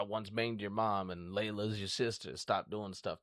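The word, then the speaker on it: Leela: You guys fucking say a name wrong all the time. You guys call her fucking Leia? That's Layla.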